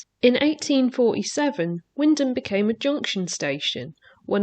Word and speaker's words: Wymondham: thing I don't understand about Wyndham is the pronunciation of the place name I said women do for quite a long time because that's how it's spelled until I got told it's actually Windham apparently be M and the O were silent